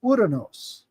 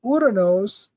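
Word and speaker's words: Ouranos: So, urinos is is Uranus, right? I just use the Greek pronunciation because it sounds ridiculous when you say Uranus.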